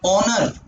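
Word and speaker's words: honour: ऑनर, एच है लेकिन silent है, तो ऑनर ओ से पढ़ा जा रहा है, एन आ गया।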